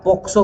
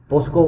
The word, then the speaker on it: POCSO: अगर इसके through establish नहीं है तो फिर हम देखेंगे क्या पॉक्सो के थ्रू है, पोस्को गलत प्रोनाउंसिएशन है, ठीक है ना, पोक्सो बोला जाता है, POCSO, ठीक है ना,